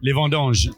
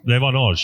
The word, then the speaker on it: les vendanges: Les vendanges. Les vendanges.